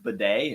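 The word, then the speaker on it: Badie: Tyler Bidet, which I learned his name is pronounced Bidet in yesterday's broadcast.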